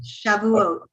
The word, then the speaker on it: Shavuot: Is that Shavuot? Yeah, close. Yes. Shavuot? Am I pronouncing that right? I'm sorry. Shavuot.